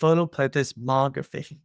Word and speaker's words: photoplethysmography: So I personally have trouble pronouncing this word but I just try to remember that the emphasis is on MO. So it's photoismography and the word is derived